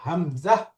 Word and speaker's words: همزة: এই যে হামজা কোনো টান নেই এবং প্রত্যেকটা অক্ষরের উচ্চারণ পরিষ্কার।